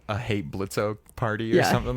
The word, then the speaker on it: Blitzo: get an arc for blitzo Blitz how dare you use the O I know I spelled it is silent I spelled it my